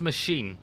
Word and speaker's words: Maskin: Isn't Maskin's name there that we isn't it pronounced machine? Like, I think so, yeah. Machine. We said Maskin. Yeah, Someone told us so.